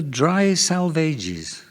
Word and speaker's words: Dry Salvages: the fourth poem nobody remembers it's called the dry salvages pronounced as elliot tells us to rhyme with as